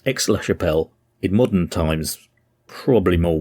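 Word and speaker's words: Aix-la-Chapelle: I kept getting the name wrong. I kept calling it Aix La Chapelle. And it's actually Aix La Chapelle, because it's AIX. So I've corrected myself in this episode, so it's Aix La Chapelle, in modern times probably more widely known by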